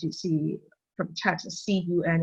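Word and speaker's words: 寸: So as you see from the text, C-U-N is pronounced as cun, which means inch.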